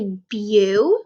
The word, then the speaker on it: beautiful: Beautiful. So we kind of have, I see the word be, but we don't say beautiful. We say beau, which is B-E-A-U, tiful.